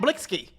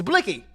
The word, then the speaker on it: Blixky: right on the news it's not blitzki it's blicky back with the real you know what's the deal indicted and facing years who this time the Infamous blicky Gang Nick Blinky recipes